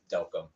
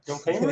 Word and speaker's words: Delcambre: So there actually is a city in Louisiana named Delcom. Oh, Delcom, Louisiana. So that's your how people city. That's your I people. guess so. That's how they say it there.